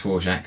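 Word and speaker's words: Dvorak: poor from him there's vorjak that's i know that's pronounced four jack after the famous composer his voice that's a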